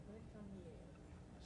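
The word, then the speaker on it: Récamier: Recamier.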